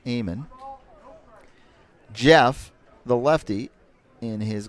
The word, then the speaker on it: Amon: Pronounce it Amon.